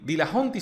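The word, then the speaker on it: Dillahunty: más que está bien cómo se pronuncia dillahunt y de la hunty se pronuncia ok voy a decir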